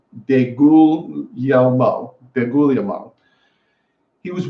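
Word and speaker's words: DeGuglielmo: coach is Dave calm googly-eyes but you actually pronounce it day Google yell mo then ghoulia mom he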